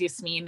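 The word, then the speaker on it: Yasmeen: same name like her the actress's name is yes mean and i but that's also my name just no one can pronounce it so it's just but like when she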